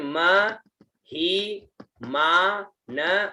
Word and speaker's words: महिमानः: फिर म ही मा न और विसर्ग है ना, महिमानः ते ह ना कम, महिमानः ते ह ना कम, महिमानः, ऐसे, ठीक है।